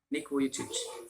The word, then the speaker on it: Vujicic: Here there is Nick Vujicic, NICK VUJICIC, Vujicic. J is there but it is pronounced as yeah, Vujicic.